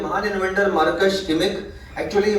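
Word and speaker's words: Marx: लिखा हुआ है बट जर्मन एक्सेंट में अगर बात करेंगे तो जर्मनी में सुना है आर रीड नहीं करते साइलेंट होता है वो तो उसको रीड करते हैं मार्क्स मार्क्स नहीं बोलते हैं यहां पे हम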